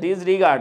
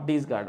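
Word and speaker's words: disregard: করছি না জুলহাস আহমেদ ক্ষেত্রে হচ্ছে ডিসরিগার্ড আচ্ছা নট ডিসগার্ড আচ্ছা আচ্ছা হ্যাঁ ওইটা আমি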